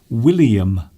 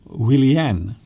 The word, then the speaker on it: Willian: he he does yes he keeps saying william but it's willian tiffany hello tiffany azara